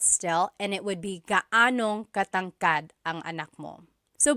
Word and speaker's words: gaanong: And then just a pronunciation tip, if you happen to see gaano ang something, it's usually put together and it's gaanong.